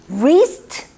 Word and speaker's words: wrist: 근데 W 뒤에 R 오잖아요. 그러면 이 W는 발음이 갑자기 이제 없어져요. 그냥 R 발음이 나요. 그래서 wrist 발음 안 나고요.